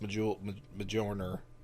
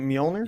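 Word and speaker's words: Mjölnir: craig's app oh yeah i didn't know how to spell major uh pronounced majorner until i was much older isn't it mjolnir yes all right all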